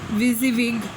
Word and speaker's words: WYSIWYG: It is pronounced WYSIWYG and basically means that printer will print what you see on your monitor.